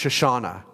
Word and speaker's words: Shoshana: How weird would it be if you went up to her today and said, hi, Susanna, and she said, no, it's actually pronounced Shoshana.